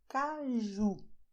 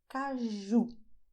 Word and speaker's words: caju: You say "cashew" in English, but in Brazilian you say "CAJU". The sound is the same that you have in French when you have "jour", so you say "CAJU", "CAJU".